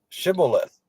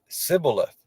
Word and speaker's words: Shibboleth: If he said nay, then said they unto him, say now Shibboleth. And he said Sibboleth, for he could not frame to pronounce it right.